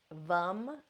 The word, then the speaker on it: vam: The seed sound for the sacral chakra is Vam. It's spelled Vam.